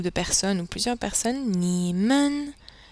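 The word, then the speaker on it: 你们: pour un groupe de personnes ou plusieurs personnes nimen nimen est prononcé comme ceci nimen nin ni ni nin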